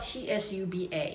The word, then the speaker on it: tsuba: It's spelled T-S-U-B-A.